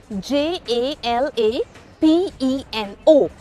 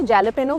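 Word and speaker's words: jalapeño: A lot of people say jalapeno, वो तो गलत है, वो तो आपको भी पता है। बहुत सारे लोग हैलोपेनो भी बोलते हैं, करीब है लेकिन सही नहीं। The right way to say that मिर्च is jalapeno.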